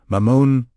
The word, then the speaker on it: Mamon: Mamon, mamon. The first syllable, ma, is short and grounded. The second syllable, mon, is elongated and resonant.